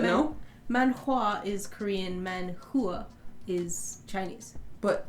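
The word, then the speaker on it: manhua: man Hua is Korean man Hua is Chinese but h-u-a is pronounced Hua still oh okay then that's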